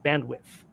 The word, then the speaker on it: bandwidth: roll your tongues around bandwidth. Bandwidth. You don't pronounce the D as I pronounced it the first time, just did that too.